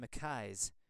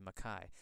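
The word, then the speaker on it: MacKay: grants gordon's frasers and mckays or unless you're american mckay or sometimes mackie but i'm going to stick with the scottish pronunciation here of makai not to mention the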